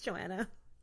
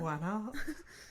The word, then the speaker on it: Joanna: Is this Juana? Yeah. Is it Joanna? And I'm like, it is not. We pronounce every letter just the way we do in the English language.